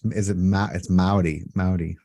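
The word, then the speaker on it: Māori: It's Maori. Yeah, it's Maori. Spelled Maori in English, American English, but and I've heard that pronounced properly from my elders.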